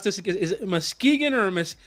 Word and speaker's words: Muskegon: Is it Muskegon or how do you say the city correctly? You did it right. It's Muskegon. Yeah.